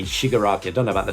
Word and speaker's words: Shigaraki: Although the story tells about how Izuku Midoriya becomes the greatest hero, it also focuses on how Tamura Shigaraki will possibly become the greatest villain, as Tamura Shigaraki serves as a dark reflection of Izuku Midoriya.